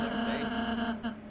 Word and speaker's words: Ralsei: Oh, by the way, apparently his name is pronounced Ralsei.